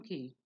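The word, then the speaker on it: cay: trilling surfs a key also costs Pelkey both pronounced alike as key as a English pronunciation this small low eyelid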